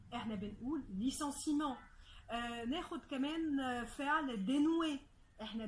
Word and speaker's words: licenciement: في E موجود فيه، مع ذلك ال E ده مش بننطقه، احنا مش بنقول licenciement، احنا بنقول licenciement.